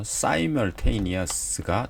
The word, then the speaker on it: simultaneously: 네, 저도 처음에 이게 잘못 공부해서 simultaneous가 더 맞는 발음입니다. simul이 아니라 simultaneous.